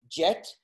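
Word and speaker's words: Djet: is that is the hieroglyph for the symbol jet which is how you pronounce it and what you see on top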